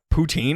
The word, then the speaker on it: poutine: Is that what a poutine is? No, because Oh. that's spelled differently.